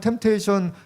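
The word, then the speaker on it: temptation: 입니다 테이션이 아니에요 한번 템테이션 한번 스펠링 또 수능이 나올 수 있으니까 이제 어 피가 무음이에요 무음 피 발음하면 안 돼요 템테이션 묵자고 하고 뭐 무음이라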